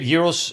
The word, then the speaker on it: gyros: The gyros in Greece are. How do you say that? Gyros. Gyros. Okay. Gyros. A lot of people say gyro or gyro. No, gyros.